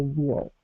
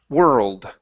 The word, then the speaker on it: world: miss it for the wall okay all right let's uh let's go to that last word instead of going to an o sound use an eer like er were were old world world there you go okay